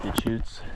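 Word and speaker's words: Deschutes: The Chutes.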